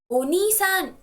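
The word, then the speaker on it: お兄さん: but somebody else is unisan please make sure that you stress the syllable knee because it's knee not okay older sister is some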